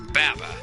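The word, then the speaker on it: VAVA: read his, Japanese name, it's spelled V-A-V-A. But in Japanese, it's pronounced Baba, like with B's, which sounds very, very similar to Boba, which, yeah, I've just heard about this plenty of times.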